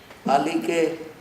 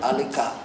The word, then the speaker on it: Alike: But also, I must thank the three speakers, who have pronounced my name correctly. Alike, not Alika.